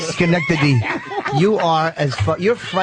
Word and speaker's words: Schenectady: right say it right you had it right Schenectady you are as you're frighteningly stupid frightening and stupid try to say it it was a Schenectady you try to say it Schenectady how far you say I wouldn't anyhow